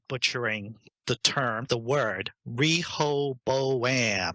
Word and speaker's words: Rehoboam: before I start butchering the term the word Rehoboam how do i how am I supposed to be pronouncing this without sounding like some kind of book from Boston well that was pretty close Rehoboam is Lee correct rape yeah re Rehoboam okay